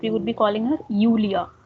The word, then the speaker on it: Julia: So in German, mostly whenever any name starts with J, we pronounce it as Y. So we won't be calling her Julia, but we would be calling her Julia.